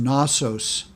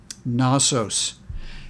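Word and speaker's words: Knossos: many times to that and so this is pronounced nosos nosos and that is number one as we go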